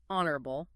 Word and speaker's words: honorable: Honorable. The H is completely silent.